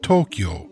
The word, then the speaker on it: Tokyo: the capital of Japan Tokyo is two syllables toe and Q but because of the long o sounds it is actually Four moras toe o q o the Tonka adds up